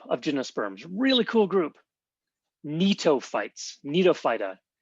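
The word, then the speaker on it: Gnetophytes: Netoightes. Netoa. So the G here is silent.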